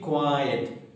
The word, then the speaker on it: quiet: uh completely okay now s q a t and q e t the difference you have to understand q e t means silence keep quiet two cylinders are there quite active other one is only one syllable it's quite possible okay